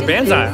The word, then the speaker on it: banzai: asked me yeah banzai it's still pronounced it's not it's banzai i watched the i just watched it it says banzai because it's not it's not talking about the tree how do i know